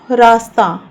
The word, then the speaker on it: रास्ता: रास्ता। इसमें जो स की ध्वनि होती है वो आधी होती है।